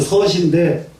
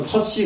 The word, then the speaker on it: 서시: 근데 서시인데 요즘 사람들은 서씨 그렇게 있습니다. 한문 발음을 할 줄 모르기 때문에. 그래서 서씨 그러면 서씨 성이 되버려요. 서시 그래야 돼요. 서시.